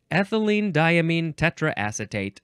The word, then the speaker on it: ethylenediaminetetraacetate: let's try this one ethylene diamine tetraacetate okay you break it down it's not so hard ethylene diamine uh diamine you can also say diamine people like that too tetra I think